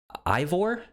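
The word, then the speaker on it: Eivor: play as a character named ivor i believe is how you pronounce it uh and you can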